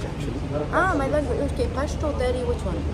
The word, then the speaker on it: Pashto: Can you pronounce it properly? Pashto.